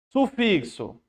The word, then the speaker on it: sufixo: Sufixo. Perceba que sufixo, temos o X com som de KS.